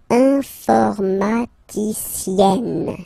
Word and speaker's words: informaticienne: you get the sound informaticienne, sienne. Remember E and then double N, or then it could be double L or double consonant here. You open your E, so it's E. Informaticienne.